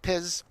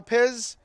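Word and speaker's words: Pisz: P-I-S-Z. I think that's pronounced Piz.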